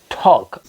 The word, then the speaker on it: talk: it's not talk it's L is silent L is silent right